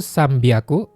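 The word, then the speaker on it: 三百: Kalau 300 Sambaku, 600 ropyaku, 800 hapiaku. Bunyinya berubah ya. Jadi biaku dan piaku.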